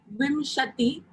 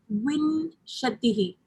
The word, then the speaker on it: विंशतिः: We say Vimshati, Vimshati, the dot on top is pronounced as ma or na, like Vimshati or Vinshatihi.